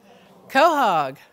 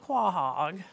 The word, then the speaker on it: quahog: we have the northern how do you pronounce it quahogs yeah very good it's not clogged that's a northern Quahog really pretty how many